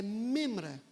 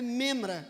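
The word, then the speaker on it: מימרא: era Logos correspondente no hebraico para Logos é memra repitam comigo memra memra se escreve m m r membra tá não é membra é membra nós temos várias membras da igreja aqui mas é memra Ok é muito interessante porque em uma antiga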